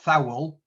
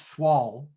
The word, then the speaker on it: thwall: of northeast yorkshire slang i think it's spelt t h w a double l so it's not foul it's thwall and she'd have a